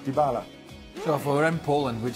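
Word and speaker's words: Dybala: don't speak Polish but some people believe that the correct polish pronunciation is DiBella and not dibala so for EM Poland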